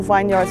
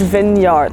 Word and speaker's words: vineyard: of the most beautiful vineyards i've ever seen i kept saying vineyard ryan says it's vin yard so i mispronounced it but that's because